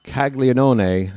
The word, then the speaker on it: Caglianone: Here's Jack Caglianone, and yes, I pronounce it that way. You're not going to convince me that that first N in his name is silent.